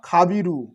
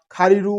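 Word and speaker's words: خبير: এটা হচ্ছে ইয়া খাবিরু। আকারে খা বয় দীর্ঘিকার বয় সনের রয় হুসুকার ঠিক আছে এটা আবার আপনারা খারিরু উচ্চারণ করিয়েন না এটা হবে খাবিরু আমি বয়সনের রটা কাটা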